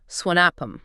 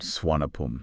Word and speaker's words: Suvarnabhumi: That's just the English spelling trying to phonetically capture the Thai pronunciation. Right. But you're going to hear locals say Swanapam. Okay. Like they kind of drop that hard R sound.